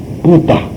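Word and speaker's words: 佛陀: 근데 붓다인데 중국 사람들이 지금 우리가 쓰는 불타라고 썼는데 중국 발음은 뿌따입니다. 뿌따. 중국 사람들 보고 이 불자를 읽으라 그러면 뿌따라고 읽어요.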